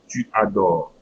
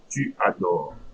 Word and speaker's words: tu adores: Tu adores. Tu adores. I'm not pronouncing ES.